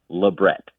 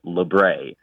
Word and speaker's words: labret: Most piercers will insist that the word is pronounced labret with a T at the end, the hard T. But some other people will say, well, the word came through France, so it's labret.